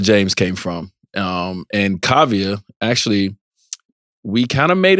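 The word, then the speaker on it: Kaavia: right away you just had a baby girl Kavya is that how you pronounce it yeah Kavya James is the first and tell us where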